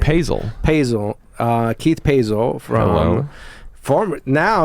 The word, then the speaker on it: Paesel: Paesel.